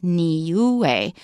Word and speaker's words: Niue: how to pronounce it we've got three vowels and each one is pronounced separately so it's nuu Nu and so when